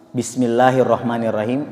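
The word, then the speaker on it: بسم الله الرحمن الرحيم: kasrah maka dia tipis kalau dimulai dengan diawali nafsul jalalah kalimat Allah di dalam Alquran Kalau awalnya berharakat fathah atau dhommah maka dibaca tebal tetapi kalau kasrah seperti Bismillahirrohmanirrohim maka itu dibaca tipis Jadi tidak boleh bismillah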